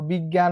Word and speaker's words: বিজ্ঞান: যেমন দেখো বিজ্ঞান বানানে এই যে উচ্চারণটা কি হয়ে গেছে, গ প্লাস গয়ে চন্দ্রবিন্দু আকার হয়ে গেছে।